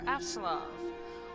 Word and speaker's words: Apsulov: Time to play some more Apsulov, which I learned recently that I've been misremembering and mispronouncing. There's a P there, not a B.